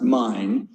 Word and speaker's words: Main: we see the the mine river m.a whilst spelled like maine m-a-i-n but it's pronounced mine and the mine is